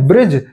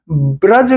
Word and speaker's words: ब्रज: जगह है भूमि है उसे हम ब्रज कहते हैं ब्रिज नहीं कहते तो सही शब्द है ब्रज और यहीं से एक